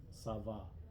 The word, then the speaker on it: Sava: A is pronounced like in father, father. Sava is a river in Slovenia. Sava.